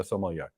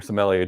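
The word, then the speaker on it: sommelier: almost like being a Somalia or Somalia depending upon which country you're in and how they pronounce it and I would get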